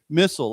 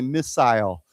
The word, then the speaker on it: missile: Some people say missile, like I say missile, but some people use that that second I, they use a longer I, they say missile.